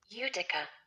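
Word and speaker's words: Utica: Giving our modest capital base, Mohawk Airlines, our primary target, was based in How do I pronounce this? Udica.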